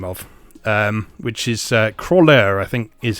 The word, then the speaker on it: Croixleur: Which is Croixleur, I think is how you pronounce it. Which is spelled Croixleur. The X is definitely silent.